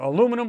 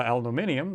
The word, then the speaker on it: aluminum: out of real thick you know you know aluminum or aluminium depending on how you guys pronounce it if it's that or stainless steel